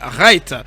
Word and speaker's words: Wright: En anglais, si le W est précédé par le R, on ne prononce pas le W, on dit Charles Wright.